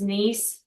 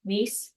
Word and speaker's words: Nice: friendly tip to all it pronounces as Miss what is that oh instead of nice it's nce nce thank you yes okay